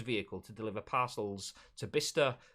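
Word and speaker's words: Bicester: to deliver parcels to bista that is how you pronounce that by chester but bissester uh is bister in it anyway we'll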